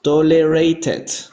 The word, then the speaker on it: tolerated: Aquí la E sí suena. Recuerden, cuando un verbo acaba en T o acaba en D, sí pronunciamos esta última E. Aquí pronunciamos tolerated. Tolerated.